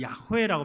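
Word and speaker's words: 야훼: 요라고 하는 말은 여호수아 또 예시와 할 때 여호와 이게 다 이제 여호와 비슷한 의미인데 여호와 사실은 어 여호와라고 보다는 야호라고 발음했다고 생각이 되는데 거기에 여호수아의 쯤 표현이 요입니다.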